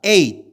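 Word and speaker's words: eight: 그래서 G하고 H는 장식품이에요.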